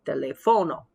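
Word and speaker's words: teléfono: we indicated in class generally if the word ends in a vowel the accent falls on the second to last syllable so it would be telefono but it's not de le fono it's de lefono so the spanish language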